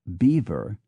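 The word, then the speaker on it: Belvoir: b l v o i r somehow becomes beaver and b a u d s ER t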